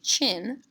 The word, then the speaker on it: Qin: Qin Shi Huangdi CC chin pronounced like a chin lip the chin on your face the Qin Dynasty was